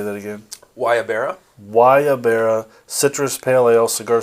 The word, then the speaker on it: guayabera: Guayabera.